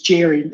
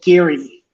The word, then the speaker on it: Jerry: No, it's like when I hear these guys call Jerry Gambetti, G is pronounced with us as Jerry, and these guys say Gary.